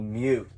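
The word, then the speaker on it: Meute: I don't know exactly where, Eastern Europe called Mute.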